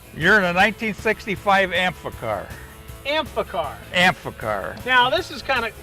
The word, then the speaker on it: Amphicar: First off, let's get the pronunciation correct. You're in a 1965 Amphicar.